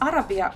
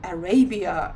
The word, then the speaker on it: Arabia: Here is Arabia or Arabia, if I pronounce it in English, a very famous brand here.